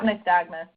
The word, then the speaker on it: nystagmus: Any treatments for, and I'm not sure how you pronounce this. Yep, nystagmus.